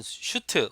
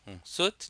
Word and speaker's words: suit: suit이라고 하는 게 명사면 슈트, 옷, 우리가 슈트란 말을 쓰는데 정장 같은 거요. 슈트가 아니라 영어 발음은 suit입니다. suit. 이게 명사면 소송, 옷, 그 다음에 suit, 뭐 적합하다 동사 되거든요. 수가 수송이죠. suit, 적합하다.